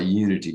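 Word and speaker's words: YOUNITY: I just completed a program for Europe's biggest distributor of transformational content, a company called Unity, spelled with a Y, Y-O-U-N-I-T-Y. They're Europe's big dog in that space.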